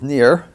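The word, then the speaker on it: ניר: lamp and yoke well the word for lamp in Hebrew is near and NIR you could spell it and that looks like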